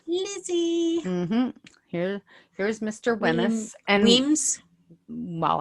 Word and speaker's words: Wemyss: And Weems. Well, I call him Wemyss. But I his know it's last name Weems.